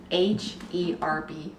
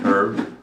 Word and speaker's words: herb: How do you pronounce H-E-R-B? I might pronounce it herb, or I might pronounce it herb.